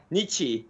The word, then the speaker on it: Nietzsche: So Christina Nietzsche, and the way I remember her last name is because it rhymes with Gucci.